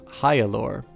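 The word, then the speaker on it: Heort: screen by the way your hero's name is pronounced Heil or many more gods died as the gods war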